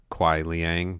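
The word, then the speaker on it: Kuai Liang: quan chi's evilness and helps kwai lang aka sub zero two who i've also heard his name pronounced as kwai liang but you know we're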